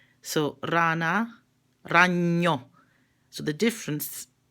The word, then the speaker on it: rana: know that means spider if I say rana RA na that means frog so Rana Rania so the difference